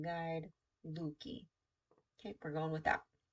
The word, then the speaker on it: Leuke: Okay, so of compromises in Luki, at least according to the way it's broken down, Lookee for the pronunciation guide, Luki.